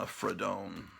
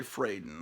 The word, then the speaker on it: Fradon: I was always pronouncing her name Ramona Fradone. I think it's actually Fraden.